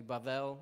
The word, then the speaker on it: Babel: he's like it's actually bavel it's actually like a b a v sound for b um and so what